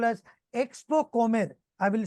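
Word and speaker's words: Expocomer: recently over in Panama it is called as Expo com I will spell it out for you e ex p o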